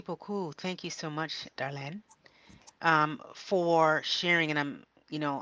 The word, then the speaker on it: Darlène: I wish I could return to that moment and reiterate that my name is "Darlène," not "Darlene."